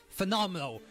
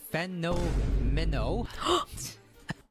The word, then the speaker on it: Fenomeno: Okay, so next we're gonna talk about Phenomenal. Well, that's how I pronounce his name. His name is actually Fenomeno.